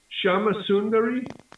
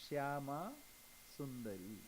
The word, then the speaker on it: Shyama Sundari: Is it Shama Sundari? Yeah. Shyama Sundari. Shama Sundari. I have a Shyama means pronunciation. Mother Kali, Shyama, and Sundari means beautiful. Beautiful Mother Kali, Shyama Sundari.